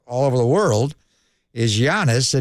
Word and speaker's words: Giannis: So his first name's Greek, but he's also from Nigeria. His mom and dad were born in Nigeria, but he grew up in Athens, Greece. So there's two different ways to pronounce it, Giannis. But then I call him Antetokounmpo because that's the Nigerian pronunciation. The Greek pronunciation is Giannis.